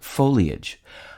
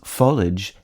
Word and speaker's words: foliage: denying that the pronunciations folage and foilage have also staked their claim the first of these disputed pronunciations is consistent with the pronunciation of the i a g ending in marriage and carriage the second is often